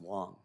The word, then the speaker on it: Wang: to let you know even though it's spelled w-a-n-g it's pronounced Wong so just think of the wrong way of doing it so uh and I